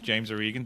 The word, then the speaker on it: James Organ: Well, my, as you said, my name is James Organ. Thank you for pronouncing it correctly.